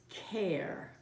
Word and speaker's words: care: changes the vowel sound the word is care it is not K or you know with a long a sound because that's what we seem to know when we have a silent e at the end that the vowel would have a long a sound but it doesn't the R which comes